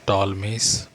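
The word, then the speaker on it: Ptolemies: तो एक नाम लिखा हुआ है ऊपर है टॉलमीस पी साइलेंट टॉलमीस और नीचे जो वर्णन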